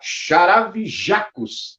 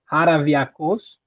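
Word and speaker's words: Χαραυγιακός: Aqui tá Charavijacos, mas não tem nada a ver com Charavijacos, que eu já errei a pronúncia. Fala aí a pronúncia correta, por favor. É complicado, o grego, as palavras são muito complicadas. O nome do novo clube que eu tô é Haraviakos.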